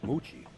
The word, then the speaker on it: Mucci: Yeah, where I come from, it's a Moochie. Yeah. Mucci. Absolutely. Where you come from, it's known as a Moochie. Mucci. Yeah, it's actually pronounced Mucci.